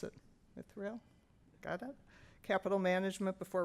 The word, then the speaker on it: Mithril: He told me how to pronounce it. Mithril?